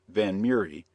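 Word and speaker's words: Vanhomrigh: time miss van Hamry a name which she and her mother pronounced van murri was then 17 years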